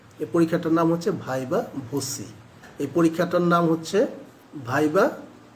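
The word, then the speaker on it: viva voce: এই পরীক্ষাটার নাম হচ্ছে ভাইবা ভোসি। এই পরীক্ষাটার নাম হচ্ছে ভাইবা ভোসি। অনেকেই ভাইবা ভয়েস বলে, ভয়েস বানান আর ভোসি বানানটা তুমি দেখো তোমার অ্যাডমিট কার্ডে লেখা আছে, এটা হচ্ছে ভাইবা ভোসি।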